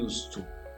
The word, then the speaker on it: used to: Por que é used to? Por causa da influência dessa preposição to no final, do use. Então se eu tiver esse to depois do use, essa vai ser a pronúncia, ok?